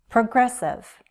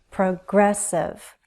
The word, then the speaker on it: progressive: Progressive. Progressive. Stress on the second. Progressive. Not pro, pra. Progressive.